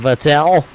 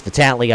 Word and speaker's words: Vitale: CJ LeVere going to get pinballed around there with Molyneux and Vattel. It's Vitali, I guess it is actually pronounced.